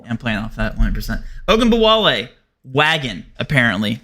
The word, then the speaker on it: Ogunbowale: Ogunbowale, wagon apparently. Like, dude. Wait, did you just pronounce her name properly?